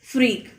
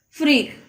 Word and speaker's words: freak: Only the first letter is different and the pronunciation is also different. Okay, this is break and this is freak. Okay, this is called break and this is called freak.